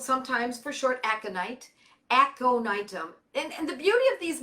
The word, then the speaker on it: Aconitum: So the next one is Aconitum, called sometimes for short aconite, Aconitum. And the beauty of these medicines is that because they're Latin, they are phonetically perfect, very easy. Aconitum, Aconitum, Aconitum, Ignatia, Ignatia.